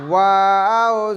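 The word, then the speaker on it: و: আদায় হবে ওয়াও জবর ওয়াও ওয়াও জবর ওয়া ওয়াও জের উই ওয়াও জের উই ওয়াও পেশ ও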